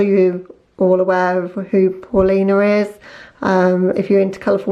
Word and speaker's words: Paulina: that means something to Paulina so that's the polina palette Sony Paulina because I know that's the correct way to pronounce it because she's a swedish youtuber okay guys so that